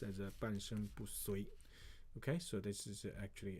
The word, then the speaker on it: 半身不遂: Okay, 半身不遂 that's called you have to pronounce as a 半身不遂.